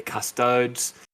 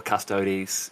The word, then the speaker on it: Custodes: since then obviously the custodes uh or custodies if you want to pronounce it incorrectly uh they they have